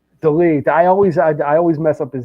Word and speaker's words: Dolidze: How do you pronounce his name? Dolidze.